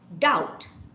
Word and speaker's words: doubt: the first one is doubt doubt you can follow me yeah doubt so you don't you kill that b yeah the silent letter b is a silent letter so don't say doubt